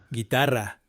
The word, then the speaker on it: guitarra: cigüeña, antigüedad, pingüino, vergüenza, lingüística, cigüeña, antigüedad, guitarra, guerra, pero pingüino, vergüenza, guitarra, guerra, pero pingüino, vergüenza.